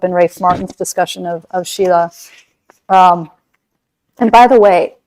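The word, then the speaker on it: śīla: Whiteboard so that s-i-l-a that s is pronounced sh so sometimes you'll see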